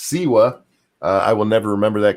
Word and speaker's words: Siwa: lot of people who are telling me it's pronounced siwa i will never remember that because i don't